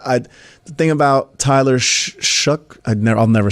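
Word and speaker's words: Shough: I The thing about Tyler Shuck. I never I'll never say his name right. What is it? How do you say it? Shuck. Shuck. Like shucks.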